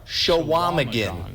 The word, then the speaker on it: Chequamegon: Chequamegon? You're not far off with the end here. We have the answer as well. Take a look. So you're not far. Shawamigan.